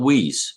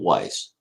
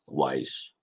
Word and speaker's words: Weiss: the other day on how to say lake weiss not whis but weiss so uh yeah if you're in that area i'm gonna say it correctly wise i hope i don't